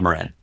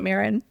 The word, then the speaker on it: Marin: So it's Improv Marin. Okay, sorry, I said it wrong. I said it like a Canadian. I called it Marin.